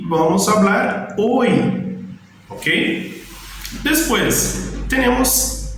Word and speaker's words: hoy: Ela está nas palavras, mas ela não tem um som para a gente.